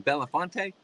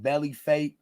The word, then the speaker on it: Belafonte: How you say his last name? Belafonte? Bam, you got it right the first time. But it's not spelled like it sounds. No, but kinda. But you got it right the first time. Yo, most people be like belly fat.